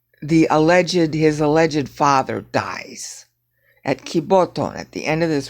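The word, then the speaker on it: κιβωτόν: Kiboton. Okay, it's saying kiboton, but that's wrong. You never stress Greek on the last syllable.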